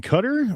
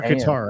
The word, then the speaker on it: Qatar: rockets raining down upon Cutter, or is this Yeah, it's Qatar. Is it Cutter or Qatar? I always said Qatar. Either way. Qatar. They pronounce it different than either of those.